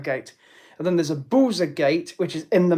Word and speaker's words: Buza: Because interestingly, the word Buza in Croatian, which is spelt B-U-Z-A, it looks like buzzer.